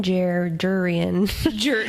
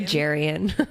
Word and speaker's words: Jurian: Human Jurian. I was going to say Jarian. Yeah, you know. Jurian. Watch it be Jarian the whole time. No, in the audiobooks it's Jurian, right? It is Jurian.